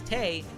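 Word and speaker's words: Tewi: In modern Japanese, E is fully homophonous with E, meaning that the W in the Romanji is silent. Officially, the name is romanticized as Tei, an imperishable night, but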